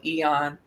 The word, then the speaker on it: AEON: Probably the most frequent one that I use with, in addition to that, is called Eon. It's spelled AEON.